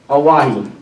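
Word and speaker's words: Owyhee: And I believe the young lady, the pronunciation of? Oahi.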